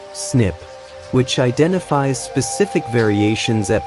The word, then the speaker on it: SNP: SNP stands for single nucleotide polymorphism pronounced SNIP which identifies specific variations at particular locations across the genome.